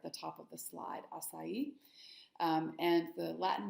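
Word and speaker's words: açaí: is a really big popular thing today is asai um and that's the correct pronunciation of that word there at the top of the slide asai um and the Latin name is there it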